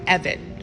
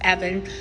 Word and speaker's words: Evon: would also go by Evan it's spelled the same some people pronounce it Eva and some people pronounce it Evan some sources media sources